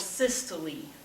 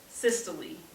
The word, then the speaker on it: systole: are weird pronunciations the first one is called systole systole but that's how you pronounce it systole and when a part of the heart or